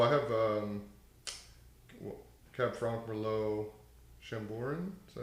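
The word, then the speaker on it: Chambourcin: Well, I have Cab Franc, Merlot, Chamborin. Is that how you say it? Chamberson.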